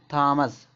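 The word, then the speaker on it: Thomas: एच देखो ट का साउंड तो इसको पढ़ेंगे थॉमस। थॉमस में टॉम्स होता है। यहां इसको देखो थेम्स पढ़ेंगे। टी एच से देखो यहां पे [नाक से की जाने वाली आवाज़] ट का साउंड थेम्स।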